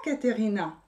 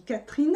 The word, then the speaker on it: Catherine: dans ce cas là on lit pas caterina indicateurs ina on dit catherine à c e muet on peut ne pas du tout le prononcer mais parce que caen